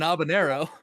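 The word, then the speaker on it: habanero: an abanero how Aero how are you pronouncing the J in that sir there's no J in abanero it's not a jalapeno it's an abanero these are two different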